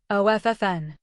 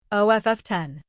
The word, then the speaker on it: often: OFF10. Or. OFFN. Which is the traditional American pronunciation? OFFEN. Silent T. Though often is also used now.